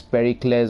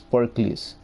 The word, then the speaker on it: Pericles: She said Pericles, so I know the pronunciation now. Otherwise, I was thinking it is Pericles or something like that, but it's Pericles.